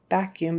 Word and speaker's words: vacuum: people will say vacuum it's not a vacuum not with a b vacuum it's a vacuum vacuum